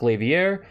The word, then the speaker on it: Glaivier: going to talk about the new classic levier not glaver like i pronounced it in another video some of you probably